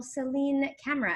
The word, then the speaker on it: Celine Camera: way from luxembourg the very kind and wonderful celine camera in fact is that how you pronounce your name or am i saying it